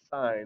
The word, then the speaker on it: sine: okay so that's sine s i n sine is how you say it then we have the